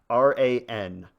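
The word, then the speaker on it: Ran: R an literally meaning chaos or tumult. You're not supposed to pronounce it like the name Ron, but uh I don't speak Japanese, so Okay.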